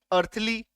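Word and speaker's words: earthly: ठीक है, तो ए आर टी एच एल वाई, अर्थली, सांसारिक। आ रही है बात समझ में? कैसा था? तो ई के तुरंत बाद ए आर आ जाए तो ई का उच्चारण नहीं करेंगे।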